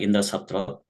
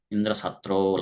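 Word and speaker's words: इन्द्रशत्रु: So it has to be pronounced with a short way, like Indra Satro. Instead, Twasta pronounced in a long manner, Indra Satro, like that. So the meaning is entirely changed.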